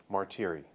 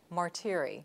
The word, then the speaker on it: Martire: Martire. Martire. Rhymes with cheery or weary.